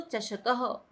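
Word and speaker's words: चषकः: चषक के पीछे विसर्ग लगा है तो चषकह।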